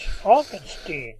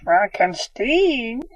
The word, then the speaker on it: Frankenstein: Is it Dr. Frankenstein? Ah, yes, but it's Frankenstein. Frankenstein? Yes, I prefer the American pronunciation.